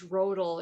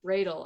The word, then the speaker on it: Roedl: Everybody says Roedl. It's Roedl. Roedl. Roedl. Like dreidel.